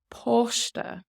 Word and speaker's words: páiste: And then even though we have an A father here, similar AW sound. Posta. Posta. Posta. Now the father over the A does make it long anyway.